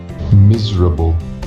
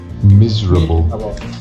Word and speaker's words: miserable: c um but sometimes we get silent syllables it's a little bit tricky so let me show you so for example here miserable can i hear miserable miserable miserable vegetable